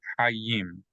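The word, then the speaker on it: חיים: So if you see a dot in the yud, inside the yud, that means that yud is going to be pronounced as a Y sound. So not just the vowel E, but Y-E.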